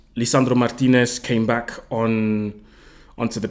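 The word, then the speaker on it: Lisandro Martínez: for last don't worry Leandro Martinez Lisandro Martinez sorry let me not butcher his name let me say it correctly um Lisandro Martinez came back on onto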